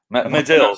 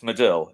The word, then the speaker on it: Medill: Medill. Right? No, it's most people get it wrong. It's Medill. It's Medill. Irish, Irish in one apparently. go rather than two syllables.